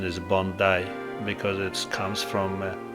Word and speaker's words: Bondi: And the right pronunciation is Bondi because it comes from a Bondi Aboriginal word.